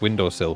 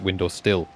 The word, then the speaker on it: windowsill: in it it's like i didn't know that windowed sil was pronounced windowsill because my parents always pronounced it window still they i mean they